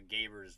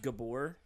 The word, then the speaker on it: Gabor: I think I had a crush on Eva Gaber's voice. I think that's what was happening. Yeah, I think it's pronounced Gabor.